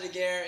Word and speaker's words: Daguerre: pronouncing my last name I think I figured it out though its duh like what you say when a stay-at-home protester gets sick gay as in what